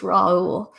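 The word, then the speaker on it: Raoult: That's what I thought it was, but then I was like, I don't know how to pronounce that the right way. It's Raul.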